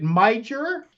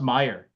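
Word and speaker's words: Meijer: had a charge at miger for $194 you had another charge at maiger where then then some of them would actually say it's pronounced Meer oh I'm sorry and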